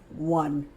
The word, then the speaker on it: one: But listen to how this starts. W. W. That sounds like a W. W. That's the schwa U sound. It sounds like this. W. U. N. W. One.